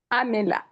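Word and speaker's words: عَامِلَة: How do we say it right? Say it correctly. Amila. Amila. Very good, sister. Amila. MashaAllah. Excellent. 5 stars for you. The sister who Thank you. said, Amila. Yes, it is with a kasra.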